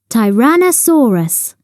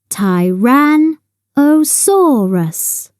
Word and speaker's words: Tyrannosaurus: got its name how do you say it Tyrannosaurus say tyranosaurus on the beach on a Sandy Beach there